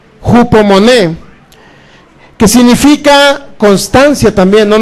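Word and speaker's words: ὑπομονή: homon así como se se escribe o se pronuncia jupo moné que significa constancia también No nada más paciencia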